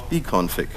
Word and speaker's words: bcfg2: Then I looked further, and I found bconfig. Yes, it's spelled bcfg2, but the developers all just call it bconfig for short.